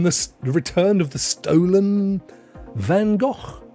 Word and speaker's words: Van Gogh: I think that's how they pronounce it in the Netherlands. Van Gogh.